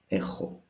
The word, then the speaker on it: έχω: A little bit peculiar pronunciation. One is γάμα, the other is he, so I don't have an excuse to confuse them, right?